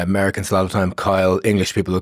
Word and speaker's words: Cathal: started yeah so look my name is it's h gaic it's gaic for Charles it can be pronounced iose kahal or kahal um or when you come to the US or even the UK you know Kyle uh Germans call me Americans a lot of